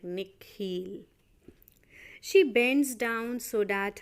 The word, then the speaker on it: Nikhil: his parents say it the second part of it longer sounding like heel like she pronounced it like nick heel she bends down so